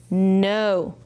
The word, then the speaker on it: know: Know, know. Any silent letters? Yes, K N, there's a silent letter.